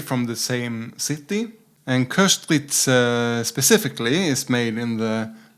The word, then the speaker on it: Köstritzer: And Köstritzer, I just learned to pronounce it more correctly than I've done previously. Köstritzer, not Köstritzer.